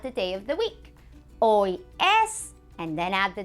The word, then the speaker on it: hoy: ¿Qué día es hoy? ¿Qué día es hoy? What day is today? ¿Qué día es hoy? Hoy means today. Remember that H is, yes, that H is silent.